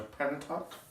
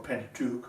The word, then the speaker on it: Pentateuch: It's part of what's known as a Pentateuch, or Pentateuch, however you want to pronounce that word.